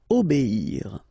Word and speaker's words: obéir: O, B, and after that you get the ir, okay? Obéir. Lutter.